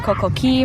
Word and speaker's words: Coco Cay: jesteśmy już na wyspie potoczna nazwa jest Koko ki można mówić Coco Pytałam się przed chwilą ratownika Jak prawidłowo wymawiać nazwę tego miejsca powiedział że każdy mówi in obie obie opcje są dopuszczalne i na tą wyspę